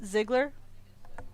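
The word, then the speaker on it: Ziegler: one is it Ziggler Zigler Zigler I never I don't know how to even say his name so it is Ziggler okay cuz it's EI it is German that's why I'm like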